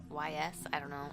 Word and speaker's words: Ys: Another one is Yeast, like Y, capital Y, small s. I believe it's pronounced Yeast. Some people call it Yeast, some people call it YS.